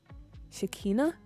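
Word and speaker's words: Shekinah: lot I usually lurk it's pronounced shikina shik shikina fudge I'mma get it right not my actual name just from the Bible oh kcha kcha is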